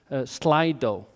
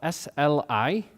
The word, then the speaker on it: Slido: And I'll ask him the questions, and you will put them online on a site called Slido. So it's spelled SLI.do, Slido.